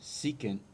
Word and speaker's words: secant: Next, this is the SEC of theta, and this is pronounced secant.